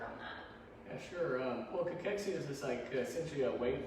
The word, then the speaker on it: cachexia: Cachexia.